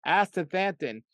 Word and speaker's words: astaxanthin: Most people can't pronounce that, but it's astaxanthin. It's a it's an algae that comes in some lakes and but you can go and get astaxanthin on the internet.